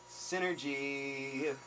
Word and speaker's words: SYNRGY: years and it's like Synergy with the E and I'm like really bro like spell it out s y n r g y Synergy that's the band name uh Synergy without the e so you can check